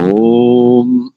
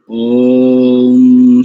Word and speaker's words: ओम: ओम इस पद का उच्चारण प्लुत में करना चाहिए। ऋचा के साथ जब भी आप ओम शब्द का उच्चारण करें तो प्लुत में करना चाहिए सदैव।